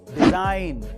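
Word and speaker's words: design: Number 3, अगर किसी word में एन से पहले जी आए तो उसमें जी साइलेंट रहता है, जैसे कि डिजाइन, साइन।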